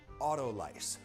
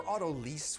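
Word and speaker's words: autolyse: it auto lice her Auto lease would be the French pronunciation I think that sounds like something you would get at a car dealership I say Auto lice because that's a little bit closer to the scientific Greek Roots which be Auto lysis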